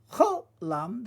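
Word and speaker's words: חוֹלָם: Cholam, that's the O sound.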